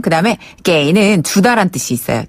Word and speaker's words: 给: 그다음에 게이는 주다란 뜻이 있어요. 줄 급자인데 게이라고 발음해요. 게이.